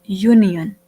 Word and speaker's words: union: Again, the word has been started with the letter vowel U, but here the letter vowel U is not giving the sound of a vowel. When we pronounce it, we are basically pronouncing it as union, right? So we will place a simple A here because there is a consonant sound.